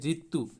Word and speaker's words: ऋतु: ठीक है, र में हंसी का री इस तरह से लिखना है, इसका इसी तरह से उच्चारण होता है। जैसे ऋतु, इसको ऋतु पढ़ेंगे, इसी तरह से लिखेंगे।